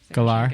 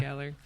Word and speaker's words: Gellar: Gellar. Gellar. Yeah. Thank you for Gellar. pronouncing that Yeah. properly. Is that how you pronounce it? Galar?